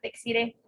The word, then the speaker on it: Dexiré: Sí, muchas veces me confunden con Desiré, con S.